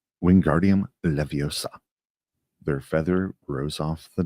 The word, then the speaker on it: Wingardium Leviosa: Wingardium Leviosa, he shouted, waving his long arms like a windmill. You're saying it wrong. Harry heard Hermione snap. It's Wingardium Leviosa. Make the gar nice and long.